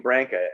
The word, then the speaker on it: Branca: but glenn's he called he pronounced his name branca i used to say bronco but he always said